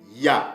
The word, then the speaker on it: Hayah: prononcent les Édomites en bala, mais ça se prononce plutôt ya.